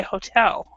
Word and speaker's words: hotel: In English, we actually do not stress the first syllable, so we say hotel.